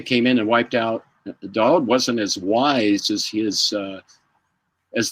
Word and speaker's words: Daoud: It led to 5 years later, the Russians coming in and wiping out General Daoud's entire family. Daoud, excuse me, is how you pronounce it.